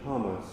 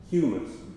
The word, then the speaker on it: humus: tucked its roots in spongy hummas humus I always call that always mispronounce that word the um spongy um